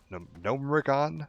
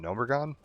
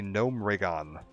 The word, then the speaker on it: Gnomeregan: quest chain of like retaking Echo Isles and Gnomeregan, which is apparently how it's pronounced. I hate that. I've always called it Gnomeregan, but it's apparently Gnomeregan is the official pronunciation now that I've heard